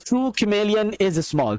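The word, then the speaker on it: chameleon: The true कैमेलियन is small. तो बहुत सारे लोग इसको चमेलियन पढ़ते हैं. इट इज नॉट चमेलियन, the pronunciation is कैमेलियन. इट इज कैमेलियन.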